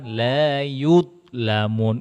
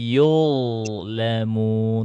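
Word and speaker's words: يُظْلَمُونَ: Jadi bacanya bukan la yudlamun. Itu macet dia. Dia harus ngalir. La yudlamun wa hum la bukan yud tapi yudlamun. Tuh, masih ngalir suaranya tuh.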